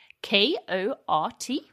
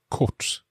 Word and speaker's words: kort: K-O-R-T.